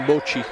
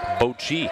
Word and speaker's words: Boki: And I was told that to pronounce that last name, Bochi. Bochi. Here he is again.